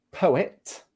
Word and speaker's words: poet: Is it Michele said, come pronunciate queste due parole qui? Quindi I would say, quindi poet, and poem.